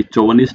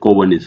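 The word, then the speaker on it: chauvinist: अब अगेन इसको आपको प्रोनाउंसिएशन भी सीखना पड़ेगा कि चोवनिस्ट नहीं होता, कोवनिस्ट, सी एच। जैसे केमिस्ट्री में सी एच को कै बोलते हैं, यहाँ पे भी कै बोला जाता है, कोवनिस्ट।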